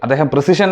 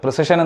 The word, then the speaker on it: precession: His first claim is regarding the Earth's rotation after December 22 (winter solstice), He wrongly pronounces it as "precision", but actually its "precession", which is a wobbling of the earth upon its axis of rotation.